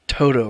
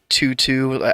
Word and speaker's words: Toto: And it's pronounced Toto, right? It's not Tutu.